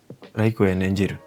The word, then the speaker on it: Like an Angel: Like Angel itu pelafalannya dalam bahasa Jepang mirip-mirip kayak raruk. Raruku raiku anderu. Raruk Riku ander.